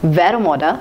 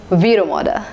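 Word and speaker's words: Vero Moda: in the list is V Ramada V Ramada I've heard people pronouncing it as Vera Moda but that's wrong it is as V Ramada V Ramada is a brand of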